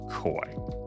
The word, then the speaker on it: koi: I'm pretty sure that's pronounced koi. Koi.